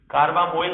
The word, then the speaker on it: carbamoyl: अब इसके लिए जो हमारे पास प्रीफिक्स होता है कार्बोमोइल, इस तरह से हम लिख सकते हैं, कार्बामोइल हम लिखेंगे इसको, स्पेलिंग आप ध्यान रखेंगे, CARBAMOYL, कार्बामोइल।